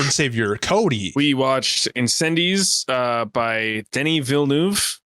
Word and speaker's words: Incendies: by our lord and savior cody we watched incendiz uh by denny villeneuve it's pronounced similar to the way i just said